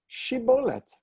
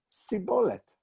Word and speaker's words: Shibboleth: Aleph Mem Resh is to say, they said to him, lo, Emorna, say please, Shibboleth. And he said, Siboleth.